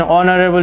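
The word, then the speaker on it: honorable: বি হি ইজ এন অনারেবল teacher প্রথম এক্সাম্পলে এজ এখানে হি হো হা উচ্চারণ হয় নাই সেকেন্ড এক্সাম্পলে অনারেবল অনারেবলের এজ হি হো হায়ের মতো উচ্চারণ হয় না সেই জন্য এন বসে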